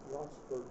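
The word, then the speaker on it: Ronceverte: And the line went down to Roncevaret. Steve, am I pronouncing that correctly? Roncevaret.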